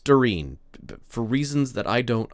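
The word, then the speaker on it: Doirean: tilts her head and looks contemplative and says, "Darin, uh, D O I R E A N." D O I R E A N. D A N. Thank you. It's pronounced Darin for reasons that I don't understand.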